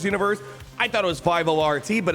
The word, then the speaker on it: 50R-T: when you look up 50rt which is pronounced sortie as they say you just find a